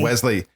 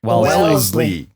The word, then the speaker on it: Wellesley: I said Wesley. Wellesley.